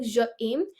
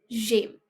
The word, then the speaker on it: j'aime: In pronunciation, we should remember that we join the voice of je and aim. So it won't be like je aim, because then there's no advantage of putting an apostrophe. So it will be like j'aime, manger.